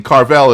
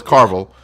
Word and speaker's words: Carvel: points from Carlos for pronouncing Carvel as Carvel. It's Carvel Comics, not Carvel Comics.